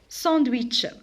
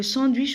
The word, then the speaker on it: sandwich: Sandwich. Le sandwich aussi c'est un mot anglais, mais ici on a la lettre wa. Alors clown. Alors ici le W je le prononce comme wa. Sandwich.